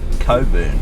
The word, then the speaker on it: Cockburn: over to my left there is the beautiful cockburn ranges pronounced Coburn but where would be the maturity to pronounce